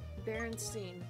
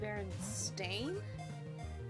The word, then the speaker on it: Berenstain: But no, everybody has this collective memory of Berenstein being spelled with an E, when it's actually pronounced Berenstain, and being spelled with an A.